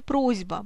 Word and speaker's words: просьба: Так, в слове «просьба» происходит озвончение, произносим звонкий «з», пишем «с».